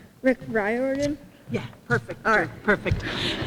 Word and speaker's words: Riordan: all very honored to be introducing Rick R rordon to oh uh dang I forgot how you pronounced his last name Rick rordon yeah perfect perfect it's so hard it's so